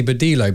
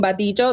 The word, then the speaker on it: Badillo: latina so i'm saying badijo that's how you say it in spanish but you couldn't write in english i think it is vadillo that's what everything yeah yeah badillo no it's